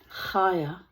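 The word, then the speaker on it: חוה: And the name Eve which in Hebrew is pronounced kaya means life.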